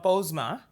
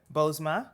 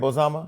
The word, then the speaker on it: Bozoma: Well, first of all, Bozoma. This is two syllables. Is it? Bozoma. So why does it say Bozoma? So am I saying it wrong? That. You are saying it wrong. Do white people say it Bozoma? They do. But, everybody says it wrong.